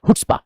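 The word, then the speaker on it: chutzpah: हुट्पा। हुटस्पा का मतलब क्या होता है बेशर्मी शेमलेस ओडेसिटी हुट्पा शी साइलेंट है मेरे भाई तो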